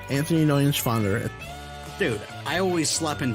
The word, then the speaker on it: Neuenschwander: Anthony Nunschwander. You didn't pronounce it right. What's up? Anthony Nunschwander. It's N-E-U-E-N. It's Neuenschwander. Anthony Neuenschwander.